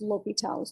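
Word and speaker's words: L'Hôpital: there's two correct spellings and uh but definitely pronounced l'hopital's don't don't pronounce it the hospitals it's it's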